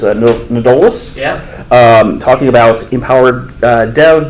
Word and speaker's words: Nedolast: We'll talk more about that, but we are honored to have, who states he doesn't care how his last name is pronounced, but I believe it's Nedolast.